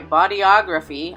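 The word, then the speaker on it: Bodyography: with a flat shader brush this is by body ography I finally figured out how to pronounce that damn word it's the body ography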